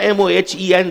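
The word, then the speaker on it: Mohenjo-daro: हमीद साहब ऐसे ही है ना, MOHEN, that is the correct pronunciation, Mohan जो दड़ो।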